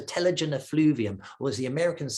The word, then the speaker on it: telogen effluvium: There's all these stresses, and these stresses really do lead to usually a temporary hair loss, a telogen effluvium, or as the Americans say, a telogen effluvium.